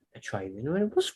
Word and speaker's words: Atravion: Well, when Estelle pronounced it the other day, Atravion, It worked.